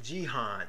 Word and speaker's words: Gihon: Verse 13 says, the name of the second river is, I'm pronouncing it, Gihon, or you may pronounce it Gihon.